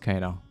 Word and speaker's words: Kano: name IRL is just Kano um just pronounced like K and then no that's how you would